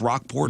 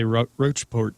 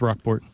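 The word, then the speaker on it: Rocheport: Is it Is it pronounced Rockport? Yeah. People online like to say Roachport or something, but it's Rockport.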